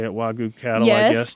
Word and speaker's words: Wagyu: And they're experimenting with genetics and crossing, I don't know how to say it, Wagyu cattle, I guess. Wagyu, yes.